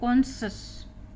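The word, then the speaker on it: conscious: है, SCIO या SCIE, इसका उच्चारण है कॉन्सस। ये कॉन्सस मैंने लिख दिया, इसीलिए इसको कॉन्सियंस नहीं पढ़ेंगे, इसको कॉन्संस पढ़ेंगे। यहाँ पे इसमें ये अंतर है, ये ENCE है, IOUS है, कॉन्संस।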